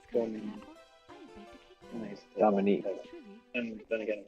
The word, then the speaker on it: Domini: I pronounce it Domini. But. Yeah, not Domine. Domini.